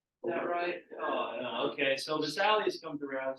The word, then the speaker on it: Vesalius: I'm gonna pronounce that right. Vesalius.